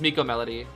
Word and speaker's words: MK Melody: How do you guys pronounce MK Melody? Oh, uh, it's um, his full name is Miko Melody. That's how you pronounce it.